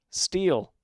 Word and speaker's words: Sthell: You know how you pronounce this game's name? Steel. It's just Steel.